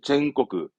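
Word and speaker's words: 全国: 전국은 젠코크, 젠코크.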